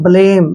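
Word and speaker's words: blame: पर मैं करते हैं लास्ट में अगर ई आता है तो ई का उच्चारण कुछ नहीं होता है इसको हमने छोड़ना ही होता है लास्ट में ठीक है ना ब्लेम ऐसे आपने इसको ब्लेम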